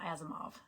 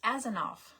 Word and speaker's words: Azenov: Okay, my maiden name is not Azimov, it's Azenov. And it looks a little like it. Um but the M is an N and the V would be an F.